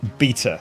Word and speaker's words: beta: Now, first things first, for my American audience, I am going to be pronouncing it beta, not beta, but hopefully we all know what I'm talking about.